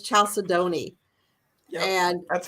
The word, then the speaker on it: chalcedony: CHALCEDONY. I think that's. I know this one. It's Chalcedony. Okay. I always said Chalcedony, and I was wrong. And then I had somebody say that it's Chalcedony.